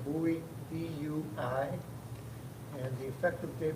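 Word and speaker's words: Bui: a part-time officer and his name is koi Bowie that's spelled k-h-o-i last name buoy b-u-i and the effective date would be 11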